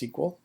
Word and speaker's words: SQL: It's pronounced SQL.